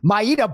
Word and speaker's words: Mayra: of Myra Bueno Silva they said Myra on the on the broadcast and uh you know so he's got me going into the Dropbox like the day after the fight to look at the uh listen to the pronunciation and uh you know she says Maita every day of the week I was like did